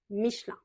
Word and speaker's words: Michelin: Michelin parce qu'en français, quand il y a un E au milieu du mot, on a tendance un petit peu à l'avaler et à raccourcir le mot. Donc, on va plutôt prononcer ça Michelin.